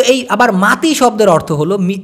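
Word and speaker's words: mati: কি তো এই আবার মাতি শব্দের অর্থ হলো এম এ টি আই মাটি হবে কিন্তু উচ্চারণ হবে মাতি এই মাতি মানে হলো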